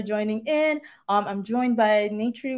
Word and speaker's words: Natri: I'm Natri. It's name and three like the number for the folks wondering about pronunciation.